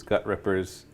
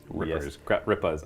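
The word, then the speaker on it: Gutrippaz: So I'm going to have these gut rippers. Gut rippas. I apologize. I need to use my proper pronunciation.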